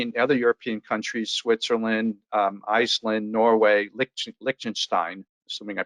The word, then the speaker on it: Liechtenstein: The countries to be concerned about are the other European countries: Switzerland, Iceland, Norway, Liechtenstein. Assuming I pronounced that properly.